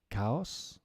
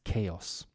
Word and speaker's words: chaos: backache neck ache technique ah how do you pronounce this word guys cows or chaos in English the pronunciation is chaos okay words that change stress depending on whether